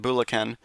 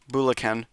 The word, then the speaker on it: Bulacan: Bulacan. Thank you. Bulacan. Thank you for the pronunciation uh correction.